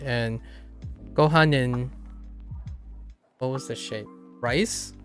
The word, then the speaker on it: ご飯: Gohanin? Yeah. Gotta maximize. And then sushi. Which one is rice? Gohanin? ご飯 Oh, gohan. Oh, it's really light. Gohan. ご飯 Gohan. Okay. So, not necessarily a separate syllable.